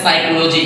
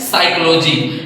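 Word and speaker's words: psychology: ओ एल ओ जी वाई इसको पढ़ते हैं साइकोलॉजी क्या पढ़ते हैं साइकोलॉजी इसी तरह से नंबर लाइन में मैं आपको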